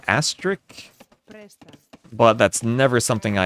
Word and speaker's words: Asterix: Asterix. Like asterisk. So it is exactly the same as asterisk.